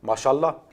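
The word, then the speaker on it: ما شاء الله: Masha'Allah, qui veut dire c'est ce qu'Allah a voulu, se prononce Masha'Allah.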